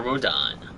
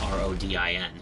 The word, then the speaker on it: Rodin: And now we meet one of the best characters in the series, Father Rodin. No, it's spelled R-O-D-I-N.